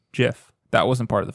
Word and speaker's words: GIF: have seen them through a gift or you pronounce correctly jiff that wasn't part of the fun fact that's